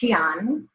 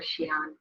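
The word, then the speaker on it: Xi'an: was when we went to the city of Xian that's where the Terracotta Warriors are and it's spelled Xin if anybody wants to go look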